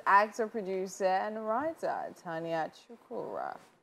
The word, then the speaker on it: Chukwurah: Finally, on the couch with us is actor, producer, and writer, Tonia Chukwurah.